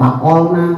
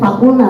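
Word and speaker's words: فقلنا: Ini orang bacanya faqulna apa faqolna. Karena tadi saya dengar ada yang faqolna tulisannya faqulna tapi karena enggak jelas faqolna.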